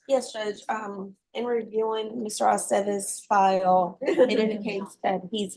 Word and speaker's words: Aceves: I never know what to do with the V's either. With what, ma'am? The V's, Oh, in the the V's, names to yeah. pronounce it correctly. It's always ve. Bay, Aceves.